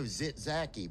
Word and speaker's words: Tzatziki: Zach sauce? No, Tzatziki.